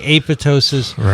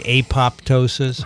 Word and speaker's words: apoptosis: to my attention that when there is a prefix in front of the silent p it is no longer silent compared pterodactyl and archaeopteryx